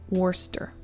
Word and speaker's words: Worcester: It's pronounced Worcester. Tell me if that's better. Wooster or Worcester?